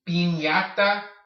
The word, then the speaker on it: piñata: Piñata, piñata. See how the ñ makes the same sound as if you were to take a Y and slap it at the end of the N?